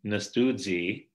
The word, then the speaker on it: nastudz: So instead of getting nastudzi, you delete the I and then lengthen the U to eu. So nastudzi comes out as nastudz.